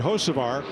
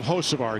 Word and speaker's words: Hocevar: HERE IS HIS TEAMMATE, HOCEVAR, WHO SET ON SOCIAL MEDIA THIS WEEK, THERE IS A B AT THE BEGINNING OF HOCEVAR. HOCEVAR. HOCEVAR. THEY DROPPED IT BECAUSE THE B IS SILENT.